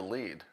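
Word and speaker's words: lede: And I feel like they buried the lead. Lead is spelled L-E-D-E, if you didn't know that.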